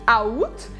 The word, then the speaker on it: août: Tem que esquecer que tem esse A e aí você vai falar só août, août. E aqui vai sim pronunciar o T, é uma exceção também.